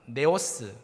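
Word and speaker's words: νέος: 여러분, 연소함이라는 단어를 헬라어로 찾아본다면 이렇게 발음합니다. 네오스 혹은 네오테토스입니다.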